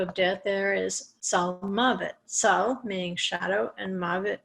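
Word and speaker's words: מָוֶת: But when you go to a noun form, you actually pronounce the vav in the middle and it becomes mavet.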